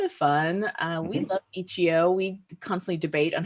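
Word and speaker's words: itch.io: really a lot of fun uh we love ichio we constantly debate on how to pronounce it i say ichio which is the correct way no h dot io got it don't worry no one says it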